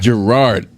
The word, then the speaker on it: Gerard: And I'm Gerard. Gerard. That's how you say it.